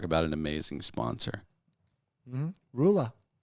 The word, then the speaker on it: Rula: Rula. Spell it R-U-L-A, baby.